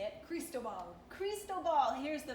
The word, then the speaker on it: Cristobal: Cristobal. Cristobal. Here's the pronunciation. Cristobal.